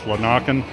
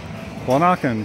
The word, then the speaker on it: Lanaken: I mispronounced it last time. I pronounced it Lanaken. It's Lanaken here on in the eastern